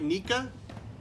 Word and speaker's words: Nikka: the proper pronunciation is is it nikka or Nika Nika Nika that's what we thought we're saying that right Nika okay great thank you in this